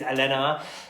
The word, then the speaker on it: Alhena: Let me just check I'm saying that properly, because yeah, let me just spell it out. Yeah, it's Alhena.